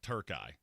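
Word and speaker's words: Türkiye: So, I I uh and by the way, Patrick Holton said it's now pronounced Turkey. Turkey. So I that's Turkai, which I am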